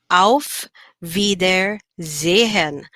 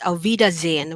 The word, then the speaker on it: auf Wiedersehen: it okay um um if you say it very fast it's avidazine where in the silent am the h at the end becomes silent if you want to